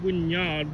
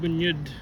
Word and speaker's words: Wynyard: I think that second Y is pronounced a bit differently. Not Wynyard, Wynyard. Generally pronounced.